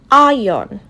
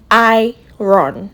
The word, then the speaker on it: iron: So this word is iron, not iron. No? Iron, iron, iron.